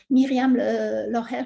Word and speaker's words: Myriam Loher: Donc, la pragmatique interpersonnelle représentée par Myriam Loher, par exemple, Richard Watts, Myriam Loher, c'est une chercheuse suisse germanophone, voilà, c'est pourquoi je prononce ainsi son nom.